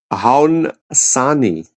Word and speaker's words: Haudenosaunee: we're going to go, Haudenosaunee. Haudenosaunee is the O silent.